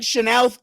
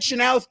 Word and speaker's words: Chenoweth: win the WHL Ed Chenoweth Cup. As yes, that is how you say it. I heard it from an official source. So if they're wrong, then we're all wrong. But yes, the Ed Chenoweth Cup.